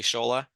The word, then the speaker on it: Shola: Well, the funny thing is, Shola, am I pronouncing your name correctly, Shola?